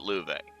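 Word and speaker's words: Loewe: And yes, I'm going to keep pronouncing it louv. I'm going to stick with McBurn's pronunciation.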